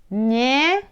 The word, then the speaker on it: неё: Неё. Here, look like two the same letters, but it's not. It's two different. Ё here at the end you can see.